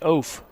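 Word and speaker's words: Eoff: balls on the strike last name is spelled e-o-f-f pronounced oaf here's the o1 and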